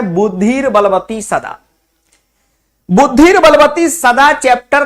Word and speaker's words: बुद्धिर्बलवती सदा: बोलचाल में इसको फटाफट में बुद्धि बलवती सदा भी बोल दिया जाता है। लेकिन सही इसका उच्चारण है बुद्धिर बलवती सदा।